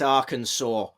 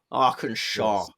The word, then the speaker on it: Arkansas: I the knowledge of American states and perhaps pronunciations as well yes yes yes Arkansas arkansaw yeah yeah no we need to work on